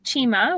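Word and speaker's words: Cima: how that one's made sure um so we pronounce it Chima which um is an Italian word for kind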